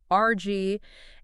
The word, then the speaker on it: RAG: Today, we're diving into the world of prompt engineering and RG. And yes, we're pronouncing it like uh like the thing you use to clean up a spill.